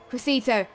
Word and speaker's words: Crescito: So we are going to go on board with the amazing Crescito, and that's how you say it. So, yeah, I always pronounce it wrong.